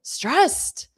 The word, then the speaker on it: stressed: You need the adjective form, which is e d, stressed, and then you pronounce it with a t. Stressed. So, just like this student said stressed because it's the adjective form.